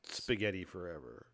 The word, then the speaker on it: Spaghetti Forever: say it yeah yeah but i'm told it's pronounced spaghetti forever you sure that's what they say spaghetti it's